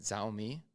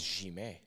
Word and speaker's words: Xiaomi: But to be completely honest, I use the is it Xiaomi? Did I say that right? I'm always saying it wrong. Xiaomi. I think it's Jime. According to Ryan, Jime.